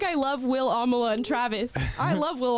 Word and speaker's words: Amala: No, people got Amala's name wrong just about as much as they got your name wrong. Yeah, a lot of Amanda. Yeah. A lot of Amaya. A lot of Alama.